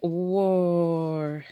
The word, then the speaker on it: war: at the top and listen to the sound war so it's making an O sound but it's spelled with an AH war the countries went